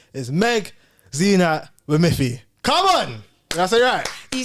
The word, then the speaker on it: Meg Zeenat Wamithi: your name in it because her name is Meg xenat with Miffy come on you said it right that was